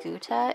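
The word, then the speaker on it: gutta: The lines are called Guta. It's spelled G-U-T-T-A, and this is black Guta.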